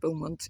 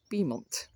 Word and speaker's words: Beaumont: The information board, which has just informed me the village is not pronounced Beaumont, it's pronounced Beaumont.